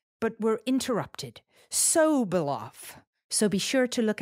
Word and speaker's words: Sobolov: pronunciation of his name, Sobolov. So polite, he didn't want to correct me while we were recording. So not sob, like crying, sob, like if you said it's so bright, but we're interrupted. Sobolov.